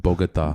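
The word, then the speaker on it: Bogotá: That's way better than mine. That was really good. Bogota. Yeah, the silent T.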